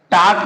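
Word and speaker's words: talk: यदि के से पहले एल हो तो एल लेटर साइलेंट हो जाएगा।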